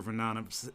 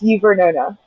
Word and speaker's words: Uvernona: I know I messed up your name, your Vanana, did I say it right? Say it. Say it correctly for me. I know it's close. I know I'm close, but not Say your name correctly. It's Vernona.